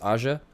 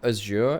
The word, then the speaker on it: Aja: By the way, his name, as far as I'm aware, is Aja. It's not Azure, it's not Ashi, or Aji. It's Aja. It's like an not an Aja, I believe. That's how I've heard it pronounced.